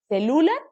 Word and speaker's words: celular: Celular, celular o celular. Celular, última sílaba.